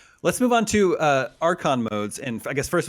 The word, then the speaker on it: archon: boss very cool let's move on to uh archon modes and i guess first of all am i pronouncing that correctly you are okay perfect nailed